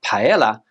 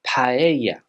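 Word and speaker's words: paella: Thora not Zamora Thora words with a double l in them here in Spain are normally pronounced as a y sound for example this word here is not Pella but paa paa the letter c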